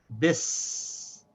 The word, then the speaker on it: bis: So by itself it's pronounced be. But it's followed by a sin that has Saakin, so we have to connect the sin to this ba. So we say bis.